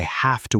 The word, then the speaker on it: have: When we say I have to work, the v sound almost becomes an f sound. Have to. I have to go.